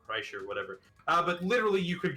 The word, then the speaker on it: Kreischer: It's Bert Kirschner. I guess that's how that's pronounced. There's no N in that. What? You're right. There's not. I'm gonna guess it's like Kreischer. Kreischer, whatever.